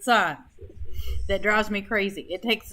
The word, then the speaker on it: sin: trig buttons they say s-i-n that's the abbreviation for sign do not pronounce it sin pronounce it sign drives me crazy it